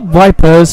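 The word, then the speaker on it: Ypres: a D wipers by British troops due to its difficult pronunciation the Belgian Town town of Eis was a was a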